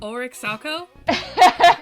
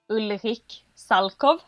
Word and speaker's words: Ulrich Salchow: Ulrich Salchow? I'm gonna guess that's a no. So, in Sweden we say Ulrich Salchow. Ulrich Salchow? Yes. Nice. Imagine it's a V at the end instead of a W.